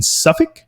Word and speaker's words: Suffolk: They were founded in October 16th, 1878, and Ipswich Town is in the city of Ipswich, which is in Suffolk.